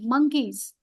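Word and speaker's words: monkeys: morning Mia loves मंकीज इट इज नॉट मो इट इज ओ बट you pronounce S मं मंकीज okay मिया loves मंकीज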